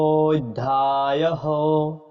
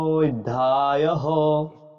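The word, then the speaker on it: অধ্যায়ঃ: নরোত্তম তো আমরা বলেছিলাম সংস্কৃত উচ্চারণের ক্ষেত্রে মাত্রা ছাড়া হ এর উচ্চারণের বিষয়ে আমাদের জানতে হবে তো এখানে আমরা মাত্রা ছাড়া হ টা পেয়ে গেছি তো এটা আমরা উচ্চারণ করব অথ প্রথম অধ্যায়হ অথ প্রথম অধ্যায়হ যেমন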